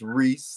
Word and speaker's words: Rhys: It's pronounced Rhys, like Reese. So Rhys, affectionately known as Father Rhys.